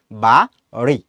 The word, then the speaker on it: বাড়ি: আর এই যে বাড়ির যে ডয়বিন্দু রটা, এটার উচ্চারণটা হচ্ছে একটু তাড়না দিয়ে। তাড়নটা কিরকম, তুমি হচ্ছে জিভটাকে একটু হচ্ছে উপরের যে দাঁতের গোড়া আছে ওইখানে একটু টাচ করবা, টাচ করার পরে এটাকে ছেড়ে দিবা, ছেড়ে দেওয়ার সাথে সাথে যখন তুমি রয়ের উচ্চারণ করবা তখন যেইটা হয়, তখন সেটা হচ্ছে ডয়বিন্দু র। কিরকম, বা রি, বা রি।